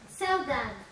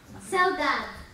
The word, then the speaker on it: Saudade: Répétez après moi. Saudade. Non, c'est pas comme ça. Faites un petit effort. Saudade. Saudade. Oui, bravo, c'est bien.